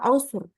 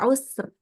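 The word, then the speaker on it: العسر: kita baca dengan tebal maka di sini al ausur dibacanya tebal ro-nya ya jadi wala yuridu bikumul ausur ya ro-nya tebal jangan jadi ausr gitu ya jangan dibaca tipis gitu ini kondisi khusus.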